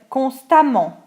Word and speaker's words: constamment: Exemple, constant, ANT pour l'adjectif, l'adverbe constamment, constantly. Courant, ANT, couramment, A2MENT, fluently. Différent, ENT, différemment, differently. Évident, ENT, évidemment, obviously. Donc attention ici, on prononce A2MENT ou E2MENT de la même façon.